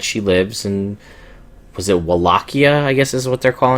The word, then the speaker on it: Wallachia: I think the W is technically supposed to be a V because we're in Romania, but it's whatever. If you go with the Castlevania 64, it's Wallachia, because they actually read you the intro.